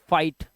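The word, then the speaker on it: fight: आया हुआ है और जीएच को साइलेंट करना है तो इसे पढ़ना है लाइट क्या पढ़ना है लाइट फाइट ठीक है साइट राइट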